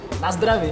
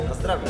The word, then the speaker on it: na zdraví: Na zdraví, na zdraví.